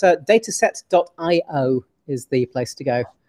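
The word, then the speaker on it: Datasette: um no it's a dataset.i is the place to go it's data it's spelt like the word cassette but with a d on the beginning it's actually the the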